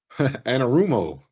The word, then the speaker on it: Anarumo: do know and and how how do you pronounce the name again Anam rumo anarumo anarumo okay um he was the DC that